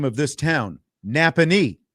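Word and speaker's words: Nappanee: Napanee is how you say it.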